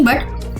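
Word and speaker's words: but: ऐसे नहीं बोला जाता जैसे कि बी यू टी बट सी यू टी कट एंड पी यू यू टी पुट आपको समझ में आया बी यू टी बट और सी यू टी कट में अ की आवाज आ रही है यू की जगह अ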